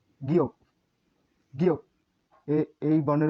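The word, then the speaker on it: 기역: তাহলে এই বর্ণের উচ্চারণ 7-এর মতো দেখতে গ, এই বর্ণের উচ্চারণ গিয়ক, গিয়ক।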